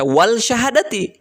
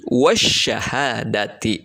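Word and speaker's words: والشهادة: ayat 105 dalam kalimat wasyahadati. Alif lamnya ada? Ada. Ya, bertemu dengan sya. Sya itu merupakan salah satu dari huruf syamsiyah. Tidak dibaca wal syahadati, tapi wasyahadati ya. Diidghamkan langsung ke sya.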